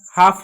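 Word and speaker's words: half: इसको हाल्फ नहीं पढ़ेंगे, क्योंकि एल साइलेंट है। एल क्यों साइलेंट है, क्योंकि एल के बाद F है।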